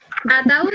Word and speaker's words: ataúd: Ataúd tiene la fuerza de pronunciación en la U y se tilde. La tilde se pone porque la tilde lo que quiere decir es, si esto fuera un diptongo, la palabra se pronunciaría ataúd, pero esto no es un diptongo, es un hiato. Por tanto, la A y la U se dividen en dos sílabas y es Ah, ataúd.